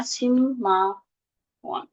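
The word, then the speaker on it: 십만 원: Sipman won dibacanya simma won.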